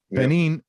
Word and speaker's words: Benin: we'll get into it he's originally from benin is that how you pronounce it that's right benin which is in uh